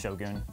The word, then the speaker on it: shogun: It's pronounced Shogun.